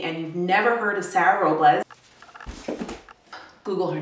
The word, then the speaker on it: Robles: I have you here well it is Spanish but I kind of see it American like my whole family will see will see Robles I say Robles I know I also need to pronounce or roll the arts wilderness but whatever just don't say Raul's Stacey Robbins other than